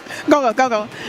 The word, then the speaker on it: Gogol: He told me to say it real fast. Gogol.